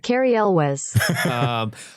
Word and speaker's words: Cary Elwes: So I went on to Google and was like, how do you pronounce that? And that is what Google spat out at me. Cary Elwes.